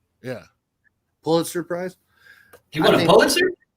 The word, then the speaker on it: Pulitzer: Pulitzer? Yeah, Pulitzer Prize.